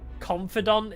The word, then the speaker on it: confidant: been my logic behind it's apparently yeah Confidant isn't it but you're not confident in them you confide in them why is it not pronounce confident I know it's not